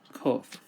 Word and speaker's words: qof: Qof. Qof sounds like the letter Q in English.